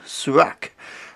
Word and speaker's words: Surak: archer pronounced the name it seems much more likely however that it would be pronounced surak after the founder of